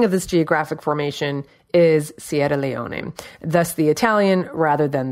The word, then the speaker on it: Sierra Leone: literally means lion mountains if you said it with the proper Italian pronunciation of course would be Sierra Leone but we say Sierra Leone and it's been called